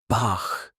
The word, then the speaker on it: Bach: Now, the hard ch like in Bach. This one comes from the back of your throat, stronger, deeper. Try it. Bach.